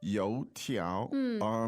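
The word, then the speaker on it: 油条: you tiao. 2 second tones, right?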